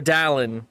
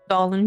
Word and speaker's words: Doan: Um, Dalan had or Don has his doubt. Is it Don or Dalan? I always mess it up. Doan, you said it right.